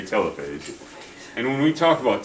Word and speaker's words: telophase: Our puppy needs a PMAT, prophase, metaphase, anaphase, T, telophase, sometimes pronounced telophase, but I say telophase.